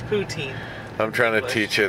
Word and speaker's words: poutine: It's poutine.